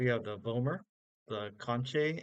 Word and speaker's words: concha: So you have the vomer, the conche, and I think it's pronounced concha by some people, but it's like conch shell, or like Spanish they say concha. It's sometimes called concha, but I say conche.